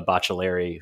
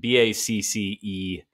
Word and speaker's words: Baccellieri: everybody read by Emma Bocciolari, who I worked with briefly at Deadspin. So briefly, in fact, that I might have mispronounced her last name, Baccellieri, if you're looking for it.